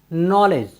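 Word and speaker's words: knowledge: ई डी जी ई नॉलेज नॉलेज मीस होता है ज्ञान साथियों यहां पर भी डी जी के पहले आया है इसलिए हमने डी का उच्चारण नहीं किया है साथियों चलते हैं अपनी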